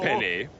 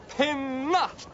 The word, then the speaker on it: Penna: Oh, not to worry, Chief Penny. My name is pronounced Penna.